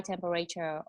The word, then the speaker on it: temperature: she have a high temperature, or should be when she should be dehydrated. Yeah, that's good. That's good. We pronounce temperature. Temperature. Not temperature. Temperature. Temperature. Temperature. We only have 3 syllables here.